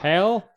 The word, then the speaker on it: HAL: Hal? Oh my God. HAL, like Hal Jordan.